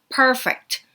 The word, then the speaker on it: perfect: perfect 같은 단어는 P 발음, F 발음이 같이 섞여져 있기 때문에 per 할 때는 P 발음 살려서 입술 완전 다물었다가 하고 나와줘야 되고요. 할 때 F 발음은 공기 뱉으면서 가줘야 됩니다. 그래서 perfect 이렇게 나와줘야 됩니다.